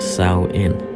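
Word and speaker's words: Samhain: the ancient Celtic festival of salmon pronounced Sal in the Celts who lived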